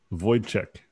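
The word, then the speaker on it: Wojtek: know it's it's incredibly pronounced void check it's polish voice check okay all spelled weird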